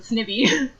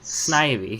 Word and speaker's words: Snivy: I always pronounce it Snivy. It's Ivy. Snivy. Snivy. Just to let you know, Ivy, it's a I'm portmanteau.